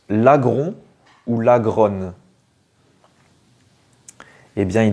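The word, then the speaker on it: Laggron: l'appelais lagron des fois lagronne je savais pas vraiment du coup on doit dire lagron c'est un mélange entre le lagon et gros voilà donc un lagon céit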